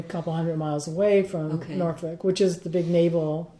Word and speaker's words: Norfolk: I lived in you're going to correct my pronunciation Norfolk right yes Norfolk which is on the coast right right there